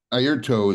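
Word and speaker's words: Airto: Ayrton is how you say his name, and he's like a shaman, man.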